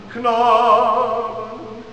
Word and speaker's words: Knaben: But I'm saying it's still the first syllable has the emphasis, not the second.